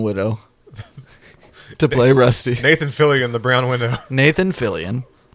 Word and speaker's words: Fillion: Is it Fillion?